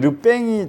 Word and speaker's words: le pain: 그래서 원래는 르뺑이 정확한 발음인데 그냥 르뺑 하면 잘